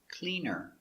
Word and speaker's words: clean her: Clean her, the H is silent. Cleaner.